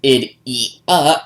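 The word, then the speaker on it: Ideya: device holding an idia pronounce ID e and spell i d e y a because why not after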